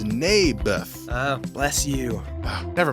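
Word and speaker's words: Naboth: that's what i said mayberff i think you're saying it wrong his name was neybeth ah bless you oh never mind nabith lived on a piece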